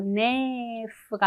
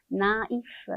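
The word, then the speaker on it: naïf: 남성 형으로 나라고 하는데요 이이 여기 트마 들어가면 우리 발음 어 단독으로 해 주세요라는 뜻이죠 그래서 네프가 아니라 나이프 이렇게 되는 거죠 이거를 여성형으로 바꿔 주면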